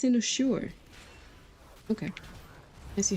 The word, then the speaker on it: Cynosure: Oh, that's pronounced Cynosure.